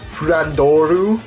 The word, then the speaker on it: Flandre: The Japanese pronunciation is actually Flandoru, which is like just incredibly awkward.